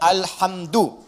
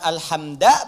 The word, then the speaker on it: alhamdu: Dibacaannya alhamdu, bukan alhamda pakai fathah atau alhamdi pakai kasrah. Ya, apa bacanya? Du, alhamdu pakai dhammah.